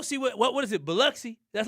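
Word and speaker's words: Biloxi: Beluxy.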